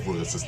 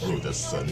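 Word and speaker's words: Rudish: And yes, it's Paul Rudis' name is pronounced Rudis, not Rudis.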